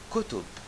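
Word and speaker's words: كُتُب: So, it can be pronounced as kataba, he wrote, or kutiba, it was written, or kutub, books.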